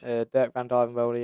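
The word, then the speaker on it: Dirk van Duijvenbode: Dirk van Dijvenbode, yeah.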